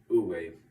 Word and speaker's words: Wu: In Eastern philosophy, the masters call this sweet spot Wu, pronounced Wu.